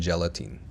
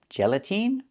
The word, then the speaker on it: gelatin: The word is not pronounced gelatine. It's pronounced gelatin. The last syllable, the last vowel is not the long e like green beans. It's a short I like this is. It's more open. Not e but I gelatin. So again, not gelatine but gelatin. This is gelatin.